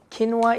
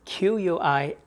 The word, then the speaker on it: quinoa: Quinoa itself is a healthy food. It's spelled as Quinoa, and it's pronounced as quinoa, not quinoa.